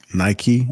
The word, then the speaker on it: Nike: Let me get Nike. Am I pronouncing it correctly? Yeah, like the shoe. You got it. Okay, Nike.